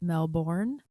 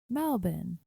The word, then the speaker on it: Melbourne: Some of you guys might pronounce it Melbourne, but it's actually Melbourne.